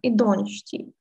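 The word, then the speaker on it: идѫщии: То есть это слово вообще читается как «идончти».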